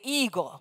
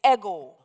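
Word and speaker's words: ἐγώ: It is actually the Greek personal pronoun ego, epsilon gamma omega, E-G long O. We anglicize the pronunciation and say ego, but the Greek is ego.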